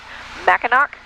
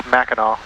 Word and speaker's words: Mackinac: trying to go to Mackinac and did I say it right nope say the word for me then I think it's Mackinaw Mackinaw Island that's a